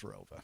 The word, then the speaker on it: Rova: There was an additional town added after I graduated, but it's always been pronounced as Rova. So what was the town that was added?